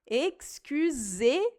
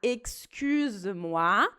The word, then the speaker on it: excusez-moi: E a conjugação do verbo no vous acaba com esse som de E. Então, é importante falar excusez-moi. Se eu falar excuse-moi, na verdade é que